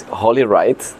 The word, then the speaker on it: holyrittte: to spell it because it's like with this holy right yeah h-o-l-y-r-i-t-t-t-e it's holy yes that's the way that's the way to say it okay yeah you can